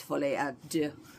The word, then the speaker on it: Folie à deux: In French it's Folie à deux, which means the delusion of two.